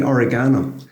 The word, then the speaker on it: oregano: How do you say oregano? Oregano. So do I. Yeah. And I deliberately said oregano there because everyone says it's not fucking oregano. Oregano is the right pronunciation.